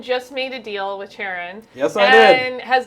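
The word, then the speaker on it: Charon: So Leviathan just made a deal with Sharon.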